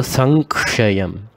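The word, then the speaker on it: संक्षयम्: The M here, Im sound becomes an ink. So, Sankshayam.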